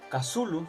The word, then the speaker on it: Cthulhu: Mucho tiempo después de la muerte de Lovecraft, la pronunciación Cthulhu se hizo más común y en el juego Call of Cthulhu la hizo suya.